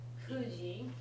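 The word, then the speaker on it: 九時: Kuji, remember when it's 9 o'clock, it's pronounced ku.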